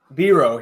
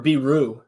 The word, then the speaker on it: Biro: Well, I guess we can move on from Biro here, or Biro rather, is the pronunciation that the club gave us.